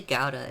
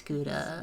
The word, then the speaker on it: gouda: cheese is something delicious every time you say gawda it sounds like chowder chowder it was most definitely pronounced no it's gouda you don't have any